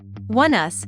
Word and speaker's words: Oneus: Oneus, pronounced like the words “one” and “us” together, is a 5 member